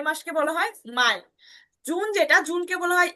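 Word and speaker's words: Mai: ঠিক আছে এরপরে হচ্ছে যে মেয়েকে বলা হয় মাই সহজ অনেক সহজ মেয়ে থেকে মাই আমার মাই মানে ইংলিশের মাই মানে হচ্ছে আমার ওটাতে মনে রাখতে পারেন মে মাসকে বলা হয় মাই জুন যেটা জুনকে বলা হয় ইউনি দেখেন জুনকে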